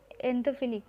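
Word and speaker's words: xanthophyll: They include the orange carotene and yellow एंथोफिली। तो ये दो जो होते हैं वो है orange carotene and yellow एंथोफिली। एक्स जो है वो साइलेंट है।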